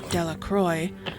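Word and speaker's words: Delacroix: Bobby and Harry Jones and Dicky Deacro. The villagers pronounced this name Delroy, eventually made a great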